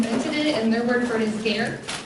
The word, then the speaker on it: ger: and murmured for his care rhymes with hair and this is the